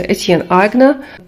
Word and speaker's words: Aigner: чергу від бренду етн-айгнер на німецькій манер вимовляється etna тому що цей бренд представлений в двох локаціях перше - це Німеччина а друга Сполучені Штати Америки хоча історично спочатку свій